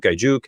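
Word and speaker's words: Aiyuk: I always say his name wrong. Ayuk.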